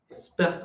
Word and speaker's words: expert: Expert comptable. Expert. Le T, on ne le prononce pas.